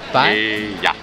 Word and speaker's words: paella: Three syllables, pie. Pie? Paella. Paella. Okay. So it's paella. I mean, it's paella, but the spelling is paella.